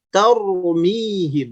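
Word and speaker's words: ترميهم: Taur, taurmihim, bukan ter juga, bukan begitu, bukan ter, tapi taur, taurmihim. Simak lagi ya, hati-hati jangan disalahpahami. Jangan sampai taur monyong berlebihan, sedikit saja taurmihim.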